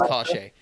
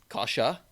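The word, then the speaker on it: Kase: Kashe. I found out it's Kashe. Kasha. Oh, okay. Kasha, like Porsche.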